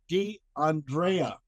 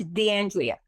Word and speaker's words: D'Andrea: Okay, tonight we have Maria Dandrea. I hope I said that right. Her last name. Did I Did I say it right? It's Deandrea. Okay, there we go.